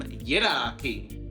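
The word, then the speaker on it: Yidaki: They are called the Yungu, which is spelt Y-U-N-G-U, and in their language, they gave it the name Yiraki, which is spelt Y-I-D-A-K-I.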